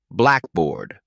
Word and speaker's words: blackboard: on air not port in Blackboard the stress is on black not bored practice saying these slowly